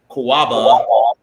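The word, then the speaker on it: Catawba: one from Jacob told me what the right pronunciation this is from koaba okay and Palmetto Brewing Company um this is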